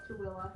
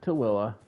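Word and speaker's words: Tooele: So, it looks like Tul and we call it Tilla. Tilla. Yeah. Uh there's also Manoway. Manowway. Or the town that is spelled Hurricane, but we pronounce it Hurricane.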